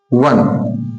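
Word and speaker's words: one: आई मैन ₹1 note तो हम देखें वन इनका साउंड क्या निकल के आ रहा है व लिखा काहे से है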